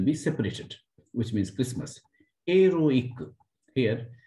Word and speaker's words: héroïque: Héroïque. Here, this I will be separated.